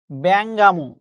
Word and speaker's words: বেঙ্গমা: বেঙ্গমা শব্দটা উচ্চারণ হচ্ছে ব্যাঙ্গামো।